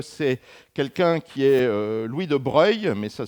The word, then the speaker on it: de Broglie: tout seul, puisque c'est quelqu'un qui est Louis de Broglie, mais ça s'écrit de Broglie, et qui a eu le